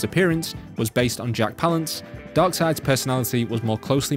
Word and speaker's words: Palance: peppered in the little fun fact there that palance and yes that is how you pronounce palance served as the basis for the